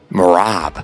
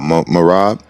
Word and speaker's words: Merab: greatness mojab what how you say his name morab oh morab man he the man you know um he